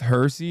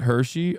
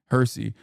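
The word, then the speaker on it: Hirsi: It's pronounced Hersy, not Hershey. Oh, okay. I don't really care. But all right, good. Thank you. Hersy.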